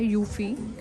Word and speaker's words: eufy: गो for this one इसको pronounce करते हैं यूफी हमने अपनी भी रिसर्च